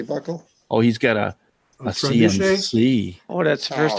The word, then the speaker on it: trebuchet: Yeah, the drill lathe. That's not how you pronounce it, is it? No, it's Well- not. How do you pronounce it then? Trebuchet.